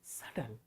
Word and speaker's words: subtle: This is not subtle. This is subtle. This is subtle. Subtle. B is silent.